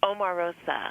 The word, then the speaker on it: Omarosa: How do you pronounce it? It's Omarosa.